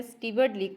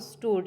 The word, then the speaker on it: steward: अच्छा, ये स्टीवर्ड word लिखा हुआ है, देखने में तो ये हमें स्टीवर्ड लग रहा है, लेकिन इसकी जो सही प्रोनाउंसिएशन है वो स्टूड है, STOODRD, स्टूड।